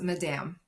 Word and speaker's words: Madame: M It's It's pronounced Madame Madame.